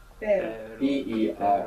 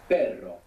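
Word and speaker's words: perro: RS together inside the word is going to pronounce this Double R so the word for but in Spanish is per p e r o and the word for dog is per p e r r o per so that's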